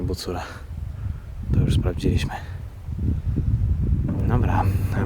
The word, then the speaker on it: Bucura: bucura pełnej okazałości powołuje wymawia się w Koranie bucura to już sprawdziliśmy dobra